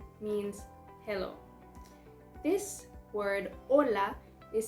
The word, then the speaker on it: hola: spanish estan listos are you ready emperors hola can you guess what that means i'm sure you already have heard it it's very popular hola means hello this word hola is spelled h it's not pronounced can also